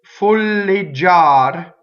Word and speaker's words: folleggiar: Now, Folleggiar is the accent is on the A. The stressed vowel is the A.